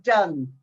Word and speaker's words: Donne: We say Donne, even though it's spelled D-O-N-N-E.